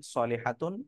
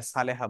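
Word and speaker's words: صالحة: ধৈর্যশীলা নারী আবেদাতুন ইবাদতকারিনী সলেহাতুন নেককার সলেহা যেটাকে আমরা বাংলায় সালেহা বলি এটা মূলত আরবিতে সলেহা সলেহা মানে নেককার মহিলা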